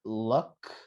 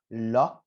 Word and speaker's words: luck: to make a balance it's not lock because luck would be like locking the door with your keys right it's not luck it's